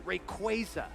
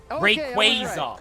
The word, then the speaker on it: Rayquaza: it's reuse Rayquaza okay I'm going to go with with the hard A's here Rayquaza like laser wait they're giving the answer right now this is the official answer laser okay Rayquaza no it's not or